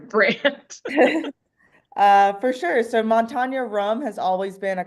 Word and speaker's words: Montanya: name of your brand uh for sure so Montana rum has always been a Colorado Rum company